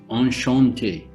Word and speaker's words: enchanté: say nice to meet you okay in french on shantae on shantae well guys we will have